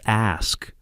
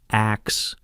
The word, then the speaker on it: ask: The way he'd gently correct Rachel's pronunciation at dinner, saying, "It's ask, not axe, honey," with this patient smile.